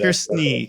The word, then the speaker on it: snickersnee: But yeah, so snickersnee. Is that correct? Am I pronouncing it? Snickersnee.